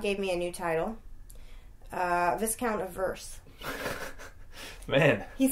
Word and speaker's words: viscount: No, Viscount is how you say it, but I'm saying like